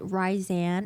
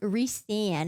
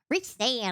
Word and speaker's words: Rhysand: In my head, I pronounce it Rhysand, and then I found out that it's pronounced Rhysand, and it sounds Rhysand.